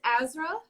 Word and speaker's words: AZRA: so everybody go stream that um and it's pronounced ezra yes it's azra yep you got it great uh she's a